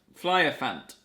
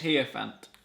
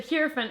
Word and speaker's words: Hierophant: Flyerfant. Flyerfant, it's an H. Hierophant. Hierophant, I think is how you pronounce it.